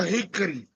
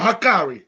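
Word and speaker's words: Hikari: make fun of it the Hickory what what is it Hickory Hickory or whatever hiari yeah hakari hakari that's right mostly all my little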